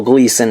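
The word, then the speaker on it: Gleeson: of my ex machina review I said his name wrong don't know Gleason is how you say his name there you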